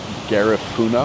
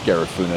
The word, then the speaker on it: Garifuna: A mixture of people is uh called Gafuna. I hope I'm pronouncing that correctly. Or gaf. I think it's Gaffuna. It's G A R I F U N A.